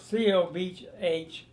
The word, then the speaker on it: Cobh: Oh, Cobh. Cobh? C-O-B-H. They pronounce it Cobh.